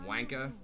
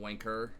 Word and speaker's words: wanker: No one pronounces the R. So it's like wanka. It's not wanker.